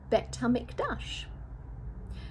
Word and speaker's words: Bet HaMikdash: Bet HaMikdash rhymes with a nasty rush.